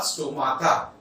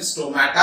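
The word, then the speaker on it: stomata: स्टो वाली माता, स्टो माता, एक्चुअली करेक्ट प्रोनाउंसिएशन है स्टोमेटा है, पर मैंने आपको याद रखनी चाहिए डॉक्टर टर्मानिस ट्रिक दी है।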